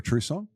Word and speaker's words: Trusson: introduce you to Deborah Trusson. Have I pronounced that correctly, Deborah? Is it French in origin? Yes, that's correct.